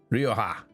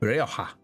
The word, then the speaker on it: Rioja: Rioa. I know I was saying it wrong. Rioa.